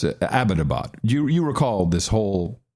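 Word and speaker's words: Abbottabad: through a long conversation about this it's not abadabad it's abadabad that is the correct pronunciation if you of course I don't think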